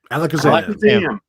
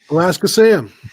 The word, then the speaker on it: Alakazam: coming in here from alakazam yes alakazam thank you i think i mispronounced that the other week i was like looking at it like it was alaska something alaska sam alaska sam alaska sam oh good